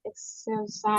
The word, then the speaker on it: exercise: Ada bunyi R-nya ya? Exercise. Iya gitu. ya, exercise. Jadi kalau teman-teman ada huruf R di bahasa Inggris ya, itu memang kita bunyinya agak samar.